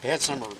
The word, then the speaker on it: Bansemer: So it's August 18th, 2021, and I'm interviewing Don, and it's pronounced Bansemer, right? Bansemer, that's a German name.